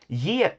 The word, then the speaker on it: ge: verb to get that's y is spelled g e. The sound has now become the English Y consonant sound which in Swedish is represented by the next letter.